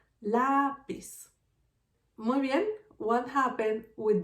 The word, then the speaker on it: lápiz: And I have another example, lápiz, pencil, lápiz. Lápiz has two syllables. Lápiz. The first syllable is pis, the second syllable is la. And the stronger sound is lápiz, is the second one.